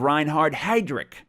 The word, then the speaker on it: Reinhard Heydrich: The assassination of Reinhard Heydrich, I believe, is how you pronounce that.